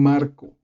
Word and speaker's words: Marco: del explico muy rápido yo me llamo un marco aunque mi nombre no lleva acento escrito si lo tiene integrado porque si no podría